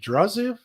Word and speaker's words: Draziv: Is it Draziv? Did I pronounce it right?